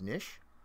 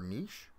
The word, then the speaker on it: niche: to have to find his niche or niche or whatever, however you want to pronounce it. I know it's pronounced both ways.